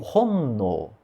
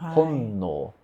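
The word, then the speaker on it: 本能: E, o, com N tem o honno, significa intuição, né, honno.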